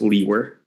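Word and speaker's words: Liewer: it's and my last name is spelled l-i-e-w-e-r and it's pronounced Lee were and where are you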